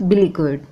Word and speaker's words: beleaguered: बिलीगुर्ड, BELEAGUERED, pronunciation is बिलीगुर्ड।